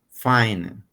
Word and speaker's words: fine: Otro detalle que vamos a corregir es que en el inglés, cuando una palabra termina en E, no lo pronunciamos. Ok, hagamos de cuenta que esta E no existe.